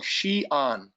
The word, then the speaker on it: Xi'an: So we start out our trip now in this very, very historically famous town that most people can't pronounce. It's called Xi'an.